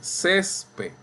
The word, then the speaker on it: césped: Yo no digo césped. Ni ustedes tampoco. Ustedes dicen césped. Ahí está. Esa es la sílaba tónica.